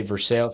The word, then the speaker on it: Versailles: The Treaty of Versailles is spelled the same way, so I didn't know. But you say Versailles.